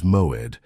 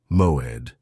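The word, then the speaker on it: מועד: The Hebrew word that defines exactly what is happening to you is Moed. Pronounce it with me in a low voice. Moed.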